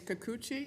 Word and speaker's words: Kikuchi: My colleague states it's Kikuchi. Is that how it's pronounced? Thank you. I believe so. That's correct.